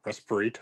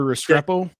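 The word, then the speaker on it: Restrepo: Rest pronounce this guy's name more. Respirto or Respo? Oh, Xavier Restreo.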